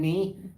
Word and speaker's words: knee: So Federer, again, the real reason may not have been knee with the silent K in knee.